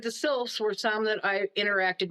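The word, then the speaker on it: sylphs: the best time with would have been the sils and and that's spelled s y l phs They are, everybody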